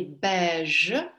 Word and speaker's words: beige: Le chien est beige. Же хорошо произносите, чтобы не было ш. Не оглушайте.